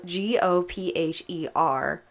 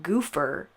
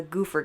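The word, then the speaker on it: Gophers: far this gang spelled GOP H ER was apparently pronounced goofer and was known as the goofer game I've had a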